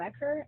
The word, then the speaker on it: Eckhart: that works no so the story with my last name it's pronounced I'm Eckhart and no one had